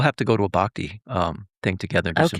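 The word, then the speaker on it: bhakti: So that's why I love this bakti yoga.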